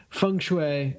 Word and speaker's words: Feng Shui: So yeah, that is Feng Shui is apparently the right way to say it.